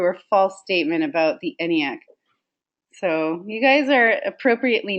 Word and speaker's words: ENIAC: Aha, Jean is saying ENIAC. That's how you would say it phonetically, Jean. But it's ENIAC, and I'll get to what